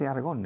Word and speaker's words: Aragon: In Aragon, así se dice Aragon in English, yeah, Aragon.